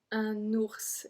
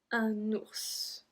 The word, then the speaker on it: ours: Un ours. It's a bear. Un ours. So we do pronounce the S.